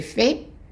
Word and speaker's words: fait: J'ai fait, tu as fait, t'as fait, il a fait, elle a fait, on a fait. And we're not pronouncing the T at the end.